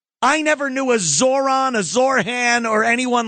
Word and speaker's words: Zohran: It's Zoron. Zoron Mamani. Uh I would think they wouldn't want to go with Zoron because it rhymes with It's very easy to say Zoron the I kind of like Zorhan.